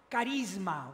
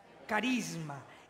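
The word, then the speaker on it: χάρισμα: used for gifts with these special gifts is pronounced Charisma would you pronounce that with me Charisma in English is pronounced charism and what is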